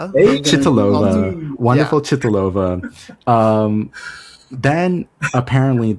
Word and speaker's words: Věra Chytilová: Věra Chytilová. Věra Chytilová.